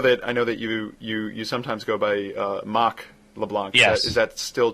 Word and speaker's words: Marc: So properly pronounced, it's pronounced in your Arnold Schwarzenegger accent, Mahk. Okay, Mahk.